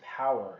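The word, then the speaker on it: Powur: when I say no I'm not saying solar it's the company's name is power it's p-o-w-u-r is how they spell it so the person who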